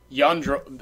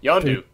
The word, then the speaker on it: Yondu: Yandro. I have to see Yondu? it. I have to see it written down, but I know how to say it. I just have to see it written down. Yondu.